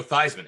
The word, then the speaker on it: Theismann: and then Joe Theismann. Hey, it rhymes. Yeah, Theismann. Yeah, Theismann to Theismann. Theismann. It rhymes with Heisman.